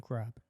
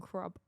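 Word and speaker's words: ครับ: Kop kun crab. Okay. My phone is saying kop kun krub. Exactly. It's saying krub though. What? Like krub.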